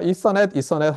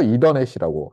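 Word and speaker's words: Ethernet: 일단 제일 먼저 고민이 되는 것이 제가 이서넷 하니까 여러분이 이더넷 아니냐 이렇게 얘기를 하는데 저도 찾아봤어요. 저도 저기 이서넷인 것 같은데 어디서 들은 거는 그래서 찾아보니까 표준 발음은 이서넷이에요. 이서넷. 근데 한국에서는 압도적으로 이더넷이라고 하는 것 같아요.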